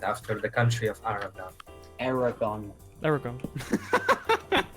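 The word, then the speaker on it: Eragon: Aragon. Aragon. It's like dragon, but with an E instead of a D.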